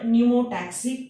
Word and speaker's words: pneumotaxic: And this word pneumotaxic, P is silent. Remember, do not pronounce the P. Start pronunciation from N.